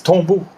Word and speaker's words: Tombeau: This band is Tombo from Australia. You probably don't pronounce it like that, but that's how the word is pronounced.